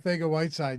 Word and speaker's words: Arcega-Whiteside: JJ Arcega-Whiteside. Yeah. I love you doing the Spanish pronunciation, given the You have to.